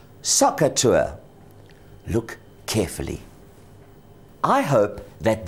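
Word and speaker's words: SOHCAHTOA: sides so I have saw Ka T pronounced as socer t look carefully I hope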